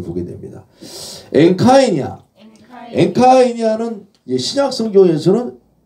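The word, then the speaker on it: ἐγκαίνια: 자, 엔카이냐. 에그카이냐가 아니라 요 이제 M 사운드를 발음하죠. 앞에 뒤에 카프가 없기 때문에 엔카이냐.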